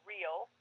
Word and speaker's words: Rehl: l e e n her last name is pronounced real but it is spelled r e h l dot com so i've